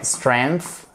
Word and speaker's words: strength: Strength. Strengths, les forces. Strength. Alright? Ici, vous avez un soft TH.